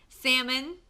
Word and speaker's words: salmon: know what I'm thinking salmon I don't pronounce the L and salmon I love to eat